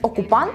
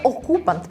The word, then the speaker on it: окупант: тон ораторки не змінюється неправильно поставлений наголос як наприклад замість окупант у відео читається окупант з наголосом на о є помилка в